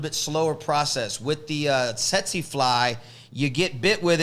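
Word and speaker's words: tsetse: the set seek fly you sold setsi now that's spelled t-s-e-t-s-e tetsy and they ain't sexy they're not sexy but they are tetsy and you do not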